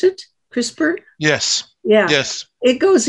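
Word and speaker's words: CRISPR: this thing called crisper is that how you pronounce it crisper yes yeah yes it goes in and and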